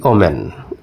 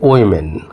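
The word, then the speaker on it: women: এটা কি বলে থাকি উইমেন, কিন্তু আমরা পড়ে আসছি কি ওম্যান। এখন আমরা বলি ওম্যান, ম্যান ওম্যান, ম্যান ওম্যান, কিন্তু আমরা এটা উইমেন। উইমেন, এটা হবে কি উইমেন।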